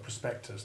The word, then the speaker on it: prospectus: the latin plural of prospectus does not change its spelling but simply lengthens the u into the long u1 sound that we shall come to shortly prospectus rhyming with moose it is a terrible